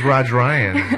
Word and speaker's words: Rodrian: of us left and you're saying your last name wrong yes that happen to me too so it's raj Ryan apparently yes yes she got